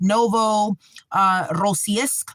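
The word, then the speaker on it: Novorossiysk: But I believe it's something like Novo uh Rossk. So it's spelled N O V O R O S S I Y S K.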